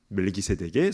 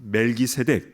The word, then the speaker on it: 멜기세덱: 앞에 멜기는 말키라고 발음을 하는데요. 그 뜻은 왕이라는 뜻입니다. 그리고 뒤에 세덱은요. 제데크 이거는 의롭다. 의라는 뜻이에요. 그래서 멜기세덱, 말키데크이 말은 의의 왕이다라는 뜻입니다.